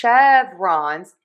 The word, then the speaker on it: chevrons: And then we have sh- chevrons. Yes, an SH sound even though it's spelled with a S.